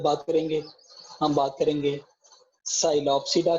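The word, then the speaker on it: Psilopsida: एक, नंबर 1, हम बेटा जब बात करेंगे, हम बात करेंगे साइलोप्सिडा की, पी साइलेंट होता है इसमें।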